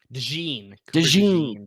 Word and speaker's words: DeJean: DeJean.